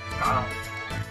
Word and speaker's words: Guile: What, how do you pronounce his name? Guile. My name is Guile.